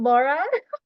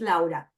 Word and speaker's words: Lara: this whole time Miss it's not Laura it's if you're speaking English it might be Laura but if you are willing to do an extra effort is Lara Lara Lara La in